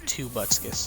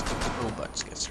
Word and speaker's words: Tobutskis: Also, if you guys can't tell, Relic is Tobutskis, and it's not Tubutskis, it's Tobutskis, Relic.